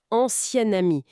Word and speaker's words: ancien ami: Ancien ami, ça se prononce presque comme au féminin avec un son N qui apparaît. Ancien ami. C'est c'est un peu déroutant au début. Ah oui, je vois. La nasalisation disparaît un peu.